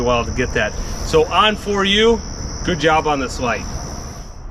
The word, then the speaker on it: Onforu: brand name of this it's a lot simpler on for you like the light switch is on for you I'm a little slow